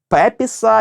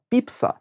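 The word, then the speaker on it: Pepys: щоденника X століття семюела Ні не пепіса і не піпіса А піпса якщо ви не зорієнтувалися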